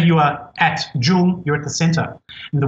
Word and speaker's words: 中: the very first character after the dot is pronounced jung it's the character that chinese people use to